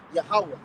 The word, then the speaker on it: Yahweh: It is Yahweh.